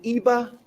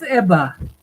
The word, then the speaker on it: Ebba: Is it Iba? It's Ebba. Ebba. Ebba. Yes.